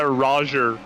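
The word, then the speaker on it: Rogger: in some places yeah Roger r-o-g-g-e-r Roger Roger Roger yeah Nate Roger oh man G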